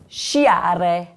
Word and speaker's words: sciare: So when the SC is followed by an E or an I, it sounds like sh, like in the word shore.